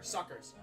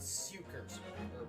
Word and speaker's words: succus: suckers what are they I love that we just got the pronunciation right there suckers so I was almost close with sukers what whatever we're both